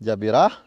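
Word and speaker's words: جبيرة: iljimae dengan Fatah gym cara membacanya Hai jabirah yaitu dengan patah-patah gym baris diatas pada gym Wah iya dan bermula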